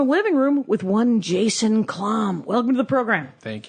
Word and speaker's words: Klamm: in my living room with one Jason Klamm.